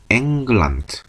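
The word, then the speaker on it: England: 그 다음은 잉글랜드가 아니고 앵글란드. 발음대로 앵글란드라고 써주면 됩니다.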